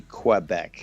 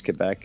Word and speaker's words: Quebec: pool queue right yeah so they usually say quebec but yeah french in french it's k like huh but uh yeah even canadians say quebec okay but it's yeah if you're looking to pronounce it proper it is quebec and last time the